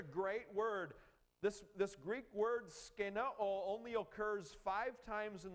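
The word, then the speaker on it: σκηνόω: The Greek word we translate in this Bible, made his dwelling, it's skenao. Skenao. There, that's better pronunciation.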